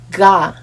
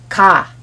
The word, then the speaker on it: 가: Many people match this 기역 sound with an English alphabet G sound, but their sounds are not the same. This letter doesn't sound like ga, but ka, ka.